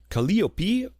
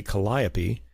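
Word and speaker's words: Calliope: Track 14 the fourth movement kopi or in English we'll say kiopi the muse of epic poetry.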